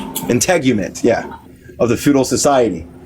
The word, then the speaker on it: integument: in how do you say that word intangument integument yeah of the feudal society in Britain by the imposition of industrial production is suggested elsewhere.